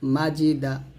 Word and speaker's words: মাজিদা: মাঝি দাল জবর দা মাজিদা এখানে জিমের উচ্চারণটা আমরা যখন করব জিহিবাটা আমরা কোনভাবে দাঁতে লাগাবো না জিহিবার মধ্যখান উপর তালের সঙ্গে লাগিয়ে জিমের উচ্চারণ করব মাজিদা হামজা জবর আ